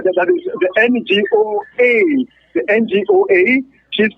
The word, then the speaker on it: Ngoa: because the other names, some people like to pronounce it as Ngoa. And for those of you who want to get the name clearly, it's Ngoa Jessica Lydie.